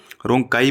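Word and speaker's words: rhonchi: ठीक है, रोंकाई बोलते हैं, कई रोंकी बोल देते हैं, अपना अपना सबका प्रोनाउंसिएशन है।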